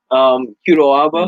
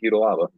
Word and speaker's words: Kudo Aba: Kudo Aba. Not on Kudalaba.